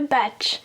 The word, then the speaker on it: bach: Le batch. Comment ça s'écrit ? B-A-C-H. Il n'y a pas de T.